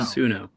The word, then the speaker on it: Suno: there's a website called, I'm probably going to mispronounce this one. Is it Suno or Suno? Suno.